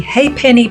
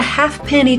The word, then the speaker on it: ha'penny: and there was a halfpenny toll for 100 years. But, because the way people pronounced it, eventually the silent L and F was replaced with an apostrophe in the spelling of Ha'penny.